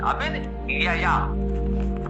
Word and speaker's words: अविद्या: ध्यान देने योग्य है, लोग भूल इसमें अधिक करते हैं, अविद्या, अविद अविद्या, तब ये इसका उच्चारण शुद्ध होगा।